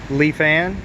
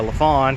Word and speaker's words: Lifan: update real quick on the leaf an k PR 200 I found out that's the appropriate way to pronounce it so I guess I'll